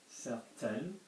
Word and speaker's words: certaine: So if I put an E over here, certaine, I'm going to be pronouncing that certaine, yeah?